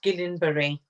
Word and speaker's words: Guillain-Barré: Is it Guillain-Barré syndrome? Yes, Guillain-Barré. Okay, that's very French, isn't it?